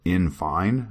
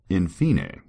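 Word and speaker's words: in fine: reading this the words infine and I was confused like what in the world does infine mean apparently it's Latin and it's supposed to be pronounced infine yeah INF so who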